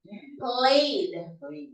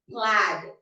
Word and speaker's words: plaid: Played. Played. Plaid. No. Plaid. As far as I know, this is pronounced as plaid.